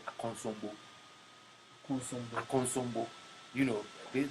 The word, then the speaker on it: Akosombo: Into a place like Ubiabeka say Akosombo, we were made to say Akonsombo.